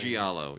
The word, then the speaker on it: giallo: I forget how to pronounce this. Giallo? What's the Italian? Giallo, yes.